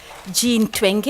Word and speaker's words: Jean Twenge: of a social psychologist Jean Twenge I pronounced at the European way who has written a